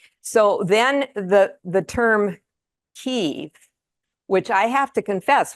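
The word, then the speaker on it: Kyiv: changed to ke and the difference is Kev is Russian and ke is Ukrainian so that's why if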